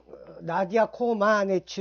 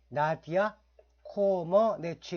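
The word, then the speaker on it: Nadia Comăneci: 선수 를 떠올리실 겁니다 우리 형이 나 d 앞 나디아 코마네치 로 알고 있는데 사실 루마니아의 정확한 발음은 나디아 코어 뭐 내 취 입니다 e 구글에서 검색하시면 나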